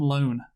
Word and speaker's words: Lone: Her adventures are complicated by a burgeoning relationship with Tom Lone. With another bad name, honestly. I was going to say, but you got to bear in mind, though, it rhymes with phone and bone.